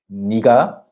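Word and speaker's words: 내가: Danielle, um, Danielle once, uh, nega It's pronounced as niga and we have a video on our channel.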